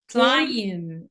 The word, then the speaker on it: climb: climb ال B silent، احنا ال M وال B ورا بعض و B for book، ال B تبقى silent.